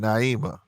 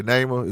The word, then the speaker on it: Neymar: for a whole hour neymar is that your is that how you pronounce your name neymar let me know i don't like pronouncing people's names wrong or was it naimah okay neymar is right okay all right name